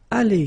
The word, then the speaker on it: allées: So the good news is that phonetically it's aller here, aller, aller, aller. So it's the same. You don't pronounce this final e. You don't pronounce this final s here.